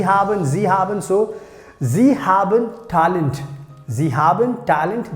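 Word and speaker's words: sie: talk about the last one so we have zee haben zee haben so zee haben talent zee haben talent that means they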